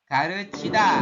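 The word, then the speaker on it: 가르치다: Kemudian ada lagi ini garuchida Garu- ya. Kita baca ga re chi ya, bahasa chi. Kemudian diakhiri da kayak gini.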